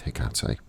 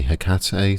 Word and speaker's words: Hecate: I say Hecate, some people say Hecate, some people say Hecate, Hecate, I've heard, which is a bit strange to me, but whatever. They're all good.